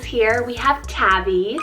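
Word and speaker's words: Tavi: Couple T names here, we have Tabby, spelled T-A-V-I, Tabby, and this one means beloved friend.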